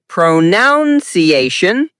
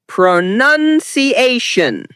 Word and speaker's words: pronunciation: Wrong is pronuniation. Correct is pronuniation.